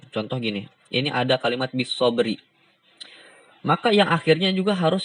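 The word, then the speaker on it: بالصبر: Contoh gini, ini ada kalimat bisobri. Maka yang akhirnya juga harus kita sukunkan. Cara membacanya bisobr. Bisobr. Ya, bisobr. Bukan bisobri, tapi bisobr. Nah, contohnya juga ini ada fajr.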